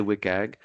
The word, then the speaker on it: WCAG: So I'll say that I say WCAG, but you'll sometimes hear WCAG or WCAG. People say it in different ways. That's okay. You can choose how you want to pronounce it, but you'll hear me say WCAG today.